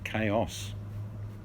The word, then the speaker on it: chaos: CH, you don't even use the damn H, you say chaos.